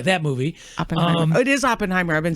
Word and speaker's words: Oppenheimer: of what the focus of the of the open Timer is it open Oppenheimer Oppenheimer Oppenheimer Oppenheimer but either way that movie um it is Oppenheimer I've been saying it wrong uh well that